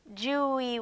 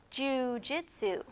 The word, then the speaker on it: jiu-jitsu: you something have you ever heard of jiu-jitsu Julie what as leo confused the poodle corrected him it's pronounced jiu-jitsu no I've never heard of Juhi Jitsu said Leo it's a gentle art of self-defence